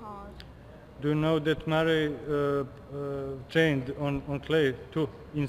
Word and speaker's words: Murray: And how do you pronounce? Andy Murray or Murray? Andy Murray.